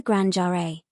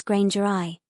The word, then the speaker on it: Grangeri: Note that we will use the suggested pronunciation contained in X1, which differs from the real world's Granger eye.